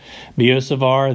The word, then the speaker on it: Biot-Savart: and our first equation biot-savart and that's how to pronounce Bo for the first whoever it was last name and savart the T is silent for the second one biot-savart that's the workhorse equation